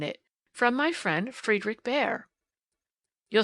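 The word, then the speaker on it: Bhaer: now don't laugh at his horrid name it isn't pronounced either bear or beer as people will say it but some something between the two as only Germans can give it I'm glad you both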